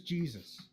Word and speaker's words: Jesus: Also, who's Jesus? Senor, It's it's It's pronounced Jesus. Jesus.